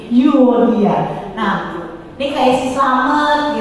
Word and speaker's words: Euodia: Unike atau orang Yunani kan Unike, Eureka, berarti Euodia. Mbak ini dulu ya, apa di shaping dulu ke pelajaran Yunani zaman dulu, bacanya gitu, Unike gitu. Eureka, aku melihat, aku menemukan gitu ya. Jadi Euodia.